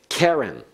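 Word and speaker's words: קֶרֶן: verbs he was able Karen notice the accent on the first syllable it's a feminine noun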